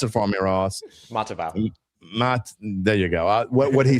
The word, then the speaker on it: Matavao: They may get another one, and we may see what, and I always pronounce his name wrong, Motivayo. Pronounce it for me, Ross. Matavao.